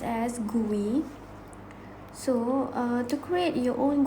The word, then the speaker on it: GUI: use of these graphical user interface or commonly pronounced as gui so to create your own quiz is easy